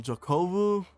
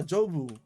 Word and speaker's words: Jobu: man who says uh um Jacob and now I'm getting that name wrong what is it what is it right yeah jobu okay this person named